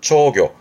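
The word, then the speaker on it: 釣魚: 발음은 초교.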